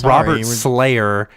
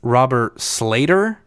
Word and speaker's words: Robert Slater: I said Robert Slayer, and it's Robert Slater.